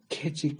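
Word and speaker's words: Keswick: 그래서 이 완전주의자 중에는 영국의 캐직 사경회라는 게 있어요. 캐직이라고도 하고 케이스윅이라고 하기도 하고 거기도 이 캐직이라고 번역을 하기도 하고 케이스윅이라고도 번역하기도 영어라서 발음이 일정치는 않은데 거기도 완전주의를 주장하는 입장이고요.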